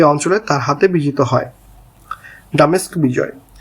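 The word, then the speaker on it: Damascus: ডামেস্ক বিজয় ডামেস্ক সঠিক উচ্চারণ ডিমাসক বাইজেন্টাইন সাম্রাজ্যের সিরিয় অঞ্চলের রাজধানী ছিল।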